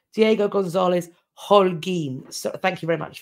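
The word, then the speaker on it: Diego González Holguín: Aurora points out that that's actually pronounced Diego Gonzalez Holguin.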